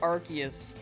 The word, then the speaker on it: Arceus: You go back and forth, but one doesn't seem to know which pronunciation is correct. Yeah, I think they go with Arceus.